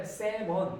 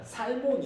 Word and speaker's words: salmon: salmon은요, L 소리가 안 납니다.